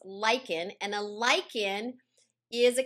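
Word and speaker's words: lichen: of how this happens well lyans it's not pronounced Lin it's pronounced Lykan and a Lykan is a combination of a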